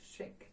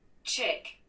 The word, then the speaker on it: chic: Chick. Oh, but listen, chick это цыпленок здесь. And let's like our word. А наше слово, пишется так же, как цыпленок, but without k. Но, так, стоп. Ну-ка, не хочет давай. Вот, окей. Chic, окей. Chic, it gives to us. Не check, а chic. А chic это больше цыпленок.